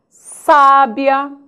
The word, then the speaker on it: sábia: vamos alguns cuidados cuidado conheça a posição da sílaba tônica de algumas palavras sábia sabia sabiá Olha lá como é importante conhecer né a pronúncia para não errarmos na hora de uma acentuação misther Nobel ureter ruim